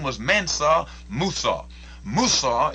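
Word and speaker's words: موسى: Musa is the Arabic pronunciation of Moses.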